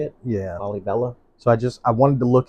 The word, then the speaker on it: Lalibela: Lalibela.